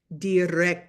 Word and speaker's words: dirección: So this word is pronounced dirección. See how both of those C's has a purpose?